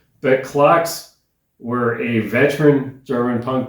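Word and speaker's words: Clox: Track number four is from a German band called Clocks and that is spelled C L O X.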